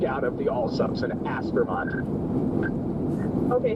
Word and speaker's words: Aspermont: Aspermont. Okay. So, Aspermont has three syllables. It's ask for Mont. As for Mont.